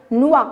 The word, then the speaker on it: noix: Une noix. Alors, le X non prononcé.